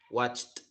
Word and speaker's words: watched: Cuando pronuncio la palabra watch, si yo me toco la garganta con mis dedos voy a sentir que mis cuerdas vocales no vibran cuando le hago watch, watch. Entonces en ese caso debo de pronunciarlo con una T. Voy a pronunciar una T al final.